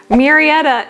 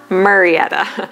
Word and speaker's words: Murrieta: Murrieta is the pronunciation, not Murrieta.